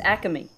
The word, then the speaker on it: Acme: My favorite Acme. Pronounced Acme.